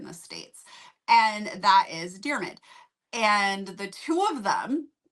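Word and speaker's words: Diarmuid: I need to know how to pronounce this name. How do you say it? Dearmid.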